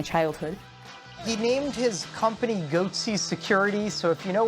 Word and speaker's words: Goatse: and they're getting the goatsy picture they're called goatsy security is that my pronouncing that correctly yeah that's right we're analyzing